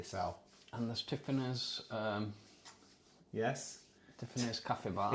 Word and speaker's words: Tiffany's: Tiffany's Cafe Bar. It's actually called Tea Fanny's, but you pronounce it Tiffany's.